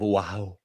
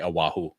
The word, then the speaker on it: Oahu: I am for spring break going to the beautiful island of Oahu. That's not how they say it. They say Oahu.